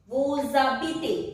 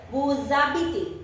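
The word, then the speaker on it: vous habitez: Vuzabite. H-A-B-I-T-E-Z. Here again S is followed by a vowel. So let's pronounce it together. Vuzabite.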